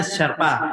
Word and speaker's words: Sherpa: Sherpa ini sebenarnya dibacanya Sherpa begitu aja tulisan ini.